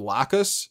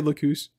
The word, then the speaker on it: Lacus: wrong about that also I keep wanting to pronounce her name Lucas so if I do that I'm sorry I'm pretty sure that's a type of potato pancake so sorry Locus in any case Locus starts